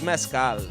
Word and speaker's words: Mescal: At Viva, how do you say it? Mescal? It's Mescal. Mescal. Yeah, because I can't. Mescal or Mescal. Mescal. There you go. That's how you say it.